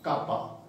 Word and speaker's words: kappa: सो G stands for conductance, small k stands for specific conductance, and बचे this specific conductance वाला k, this is pronounced as kappa in chemistry। आपका इस symbol को कहते हैं kappa।